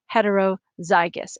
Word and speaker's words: heterozygous: they're different oh i didn't put a little pronunciation thing there but it's homozygous heterozygous and you may recognize this homo hetero from